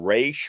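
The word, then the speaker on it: Ra's: comes to speaking Arabic I just fall on re because D O'Neal said re Neil Adams said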